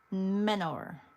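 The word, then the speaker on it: Mentor: She's from Menor, because I have to say it like that because they don't pronounce the T.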